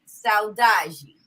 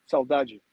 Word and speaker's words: saudade: Saudade. Saudade, perfect.